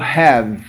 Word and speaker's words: have: O verbo have, ter. O verbo fechar, close. Veja a pronúncia deles, ó. Live, have, close. Eu não pronuncio o e.